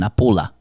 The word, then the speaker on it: Napoli: pronounced, here we go, Napula. Now the guy on the Speakpipe said Forza Napula. He did. Again, with short syllables and finishing with a schwa sound, Napula.